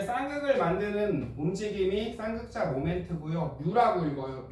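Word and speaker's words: μ: 뮤라고 읽어요.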